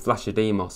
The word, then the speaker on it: Vlachodimos: I think it's Vlachodimos, I'm sure it is.